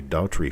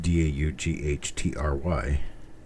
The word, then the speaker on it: Daughtrey: for state senate, and their name is pronounced the same as mine. They're missing the E that I have in mine. It's just Daughtrey. And because of the commercials on TV, and because it's an attorney in town, and because the name is in every graveyard in this area, it's quite common here. So their pronunciation works for me because it's, no, it sounds exactly the same.